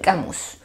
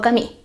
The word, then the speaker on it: Camus: está escrito por Albert camus o cami como usted decida pronunciar el apellido de este autor cuando